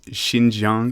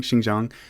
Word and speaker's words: Xinjiang: you i just realized i pronounced that wrong that's xinjiang xinjiang not too good at pronouncing these kind of words um but yeah so